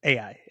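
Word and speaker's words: 愛: "I," and it's spelled So yeah, AI.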